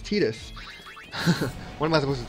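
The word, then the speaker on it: Tidus: watery sword he's like oh he's Titus and then um and then like five 10 years later these games come out where they actually see say his name and he's like oh my God it's tetus what am I supposed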